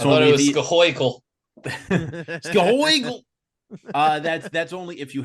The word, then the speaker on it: Schuylkill: on the Schuylkill River, or how's it actually pronounced, Rich? School us on this. Schuylkill. The Schuylkill River. But that's I thought only it was Scahoikel.